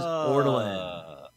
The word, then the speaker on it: Ortolan: Ortolan is correct. Oh. It is Ortolan. Yeah. Spelled with a U, by the way, not an E, but yeah, I know what you're going for. Ortolan is the correct answer. We got it right the second time.